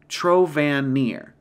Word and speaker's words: Trovenir: That is pronounced Trovanir.